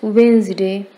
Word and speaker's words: Wednesday: It's Wednesday. Correct pronunciation is Wednesday, not Wednesday.